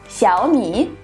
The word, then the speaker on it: Xiaomi: Давайте заодно разберемся, как же правильно произносится название китайских мобильных телефонов. Это Huawei, Huawei и Xiaomi.